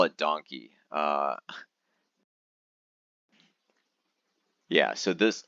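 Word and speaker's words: Don Quijote: Don kot um donot Super Market yeah it's spelled like this and it's a Japanese super market and they call it donkey uh yeah so this it's an absolutely crazy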